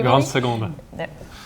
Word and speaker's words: Grande Seconde: Grande Seconde. No one is better than Louis than pronunciation.